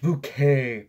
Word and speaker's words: Bucket: house speaking is the bucket woman it's pronounced bouquet father Ted that's it